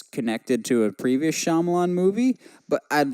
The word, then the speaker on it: Shyamalan: drop that title and go right back to how he should be pronounced M night Shyamalan 's glass we got